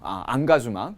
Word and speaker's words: engagement: 한 사람 자체가 살아가면서 engagement 이걸 불어 방식으로 이제 발음해서 본인이 사용을 하죠. 안가주망 제대로 읽으면 흥가수망 이렇게 되죠.